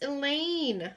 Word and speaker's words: Elaine: It's Elaine, I exclaim. We've been in class with him for 2 weeks. Doesn't he know any of us? A few whispered murmurs of rhymes with pain comes from our class and the 7th graders.